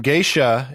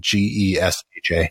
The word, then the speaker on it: Gesha: Geisha is a variety of coffee believed to be originated in the Geisha village in Ethiopia. And it's not geisha like the Japanese geisha. Yes. It's spelled Gesha.